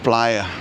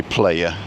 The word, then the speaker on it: Playa: The fantastic view of Playa de las Americas. And please don't say playa.